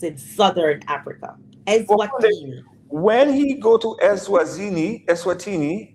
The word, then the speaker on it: Eswatini: I don't even know how to pronounce Eswina.